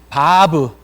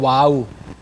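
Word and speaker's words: וו: 신학교에서 이걸 배울 때 20년이 지났기 때문에 그때 저희는요 이거를요 와우라고 배웠어요. 와우. 영어식으로 와우. W-O. 와우라고 배웠거든요. 그런데 지금은 정확한 발음이 이것이 바브예요. 바브.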